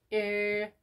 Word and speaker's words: 일요일: And there is also final consonant, so there is two ways to pronounce. Let's say first way, it'd be 일요일. 일요일. 일요일. 일요일. 일요일. Cool. And then second one would be 일요일. 일요일, 일요일, 일요일. Both sounds very similar, so you can pick either one.